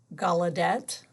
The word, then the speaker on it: Gallaudet: A lot of you have problems with the pronunciation. Gallaudet and Laurent, it's spelled L-A-U-R-E-N-T, Clerc, C-L-E-R-C.